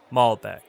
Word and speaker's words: malbec: zinfandel it's pronounced zinfandel next we have malbec malbec i'll take a glass of malbec please malbec that's how you pronounce malbec alright last on our list of